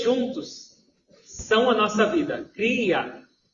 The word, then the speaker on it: Kriya: Cria yoga. Cria tem duas sílabas, cri e a.